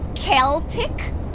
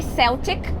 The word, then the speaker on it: Celtic: And then pronunciation again, Castelos Celtas, Celtic castles. So we don't say Celtic, we say Celtic.